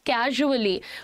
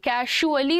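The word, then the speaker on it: casually: में हम कहते हैं कैजुअली। प्रोनाउंसिएशन सुनिएगा, इट इज नॉट कैजुअली, कैजुअली नहीं है ये, कैजुअली भी नहीं है, कैजुअली है। ट्रेजर, प्लेजर, कैजुअली ज है ये, है ना।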